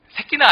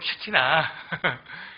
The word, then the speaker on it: 쉐키나: 새끼나 아니고 쉐키나. 뭐 누구누구 새끼 이게 아니고 예, 쉐키나.